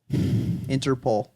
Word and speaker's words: Interpol: it's interpole thank you it's p o it's not Paul there's no a there interpole how many episodes are